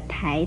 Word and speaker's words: 苔: 台字的国语注音除了念特挨台二声台之外，还可以念特挨胎一声胎。